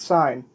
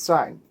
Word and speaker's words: sine: trigonometry this is pronounced sine when you spell it out it's s-i-n-e it's not sin it's sign imagine how many people